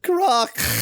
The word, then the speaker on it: Kruk: Kruk should have a rolled K, I'm just saying. Well, that's why I was saying Croc. Yeah. How much more can I roll a K than... Doesn't get much more rolled than that.